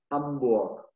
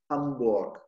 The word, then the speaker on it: Hamburg: «Hamburg». Я его выдыхаю, но не произношу. «Hamburg».